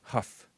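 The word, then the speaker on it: Hough: Huff, it's pronounced like Huff, Julianne Huff.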